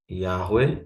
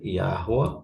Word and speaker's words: Yahweh: Se lembrando, lembrando que aqui pode variar essa vogal. Ok? A vogalzinho aqui. Ela pode variar. Ok? Vou até colocar aqui, ó. Yahweh, Yahua ou Yahue.